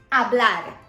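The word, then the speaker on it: hablar: the verb our blood remember that the H is silent a blood to speak then a art is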